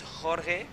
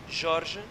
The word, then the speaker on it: Jorge: always, super unpredictable, and Jorge Hernandez was not able to get the exit out of that barrel. It's funny because in Spanish it's Jorge, and Portuguese is Jorge, and in English is George.